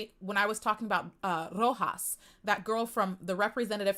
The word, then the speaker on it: Roxas: It's a character in Kingdom Hearts, but it's spelled like the province Rojas.